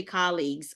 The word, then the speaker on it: colleagues: you say the word say the word colleagues how do you say it colle colleagues colleagues everybody we have to say colleagues okay so because a lot in the Philippines we say colleagues or something but it's colleagues okay yeah no big